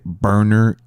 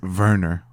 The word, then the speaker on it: Werner: But then the moment I say Berner Ziegler, He does kind of say it funny. That's his name, isn't it? it's spelled Werner, but because it's It is German, Werner. it's Werner. It's pronounced Werner. Werner.